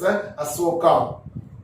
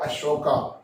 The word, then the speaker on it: Asoka: But real pronunciation is Asoka, King Asoka, right? So you also use this pronunciation Asoka only, not Ashoka.